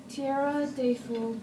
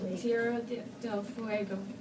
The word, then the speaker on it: Tierra del Fuego: Tierra de Fuego. I hope I pronounced that right. Fuego. Tierra del Fuego.